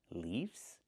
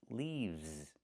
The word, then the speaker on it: leaves: But the plural form is not leafs, it's leaves. We use the letter V and pronounce it v v v plus the S making a z sound like in zebra.